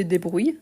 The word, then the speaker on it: débrouilles: débrouille tu te débrouilles n'oublie pas le S à la fin même si on ne le prononce pas en sachant que le i avant le double l on le prolonge donc tu te débrouilles bah tu te débrouill